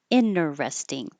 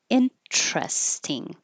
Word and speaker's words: interesting: unstressed syllable um uh if the T follows the n and it's in an unstressed syllable it can be dropped that's the word rule